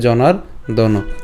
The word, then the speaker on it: জনার্দন: জনার্দন, ওই যে রেফটা আগে উচ্চারণ করব, তাহলে জনার্দন।